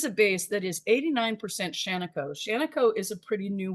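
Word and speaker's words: Shaniko: politely recently by a friend on how to pronounce it um I thought it looked like sheno and I thought that sounded cool and that's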